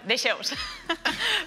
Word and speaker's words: Dexeus: ¿Pronuncié bien? Bueno, de Xeus.